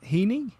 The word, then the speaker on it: Heini: I'm going to ask you the correct pronunciation of your first name. Is it Heini? Yes, Heini.